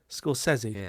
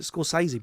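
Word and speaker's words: Scorsese: like is that you you pronounced his name correctly scori SC scori and I pronounced it incorrectly Jersey where I where I where I lived and grew up a lot of my friends are Italians yeah you pronounced it correctly and the whole world pronounces it scorsi but that's incorrect so my question is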